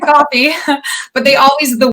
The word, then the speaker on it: Coffey: of people pronounce it kofi and i'm like nope just just coffee regular drink coffee but they always the